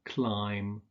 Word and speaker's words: climb: like Bom Bom ur climb and thumb so although there's a B in the spelling you don't pronounce it similarly with words like